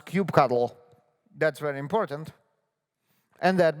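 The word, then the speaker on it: kubectl: participate in devops they definitely know how to pronounce cube cuddle that's very important and that makes you a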